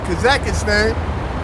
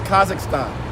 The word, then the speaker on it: Kazakhstan: Oh yeah, Philly, over there in Kazakhstan.